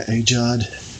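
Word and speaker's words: AGEOD: of World War I and it's made by aad um that's spelled ag ag g e o d and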